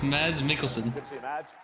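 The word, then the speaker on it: Mads Mikkelsen: It's not Mandle Menelman, it's Mads Mikkelson.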